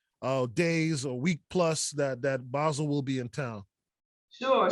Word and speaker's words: Basel: And is that, am I saying it right? Is it BASEL? Like, you know? Yeah, you're saying it correctly.